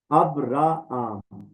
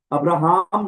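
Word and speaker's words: Ἀβραάμ: अब रा आम ठीक है। हर लेटर की अलग से प्रोनाउंसिएशन होगी यूनानी जुबान ये हमने सीखा है अब रा आमरा आम अब्राहम नहीं है ये अब रा आम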